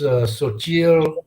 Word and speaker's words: Xochitl: name is pronounced Xochitl Isabel.